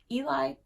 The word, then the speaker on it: Ely: is a land of beautiful places hello from Eli Ely thank you for the pronunciation guide hello from Ely Minnesota I like